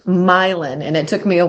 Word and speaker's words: Milan: had to think wow when we close on this property it will be my land my land ah what led you